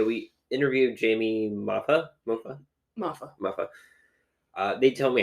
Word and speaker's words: Moffa: interviewed Jamie mafa MAA mafa mafa uh they tell me how to pronounce it in the see I think mfet but I just take the tea off so mafa but uh yeah they're